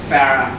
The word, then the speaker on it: Farah: Farah, as in Farah Foods.